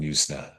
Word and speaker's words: Yuzna: on the page and uh how do you pronounce this? Is it Yansna or Yusna? Uh Brian Brian Yusna Yusna.